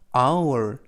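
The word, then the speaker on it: hour: 추가 묵음 이 되겠습니다 맨앞에 h 는 묵음 이고요 오유 빠른 외적으로 3기 철자가 동시에 발음이 나서 아울 바울이 라고 발음 하구요 그래서 아 우월 이라고 발음합니다 뜻은 시간 이라는 뜻이고요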